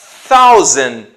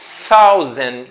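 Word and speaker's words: thousand: ranger seria uma centena para dizer mil você vai usar one causem tá observando o som do th ali causem one e depois 1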